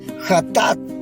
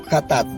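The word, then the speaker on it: חטאת: En el hebreo la palabra ofrenda es hatat. Así se pronuncia, hatat.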